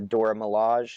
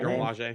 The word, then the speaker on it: Dora Milaje: I think it's the Dora Milaje. Is that how you pronounce it? Dora Milaje.